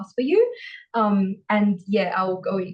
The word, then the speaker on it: Yiu: the name of mean actually is you and not ya you is a can pronunciation and my D name